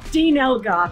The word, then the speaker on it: Dean Elgar: is your opportunity well this is where you tell me it's actually pronounced like Diane or something like that no it's just normal Dean Elgar thank you Elga yeah